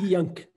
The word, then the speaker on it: Ihjãc: deixa eu ver se eu consigo pronunciar o nome dele certo. É Ijak? Inyank.